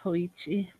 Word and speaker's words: Hoichi: Let's have AJ Hoichi, try to pronounce it. yeah, AJ It's definitely Hoichi.